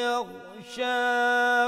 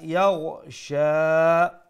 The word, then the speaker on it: يغشى: the top وَاللَّيْلِ إِذَا يَغْشَى make sure you pronounce the ghain with that softness and from top of the throat sha ended দিয়ে আমরা